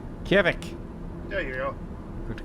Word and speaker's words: Kjevik: I don't pronounce this. Kjevik. Kjevik.